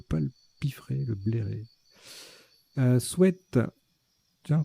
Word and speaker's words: sweat: Sweat, tiens, qu'on peut prononcer sweet maintenant, c'est nouveau. On a toujours dit c'est sweat, sweat, sweat. Et ben donc on peut dire sweet, voilà, maintenant.